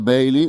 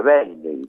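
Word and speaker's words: Bayley: o dos sonidos, Edgar Bailey o Edgar Bailey. ¿Cómo se lo mencionaba él? Baile. Bailey, claro, Nadie lo... No, bueno, sí, lo correcto en inglés sería Bailey, claro, Bailey, pero no escuchaba a nadie que le dijera Bailey.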